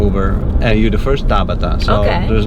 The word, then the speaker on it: Tabata: it yeah how do you say your name Tabata Tabata M oh and how do Americans say your name Tabata usually yeah mhm Tabata or they ask